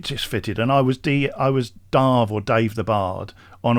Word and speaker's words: Damh: anybody, but it's pronounced it's a Scottish Gaelic word, and it's pronounced Darve. Oh, Darve. Matt, I've never ever heard anyone refer to you as Damh the Bard. No. I try and avoid it because it sounds a bit up itself. But basically, actually, it's Darve. So the word is pronounced Darve, and it's essentially Gaelic for stag.